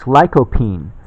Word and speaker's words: lycopene: for it to arrive it's lycopene that how it's pronounced ly co PE ne and it's a extract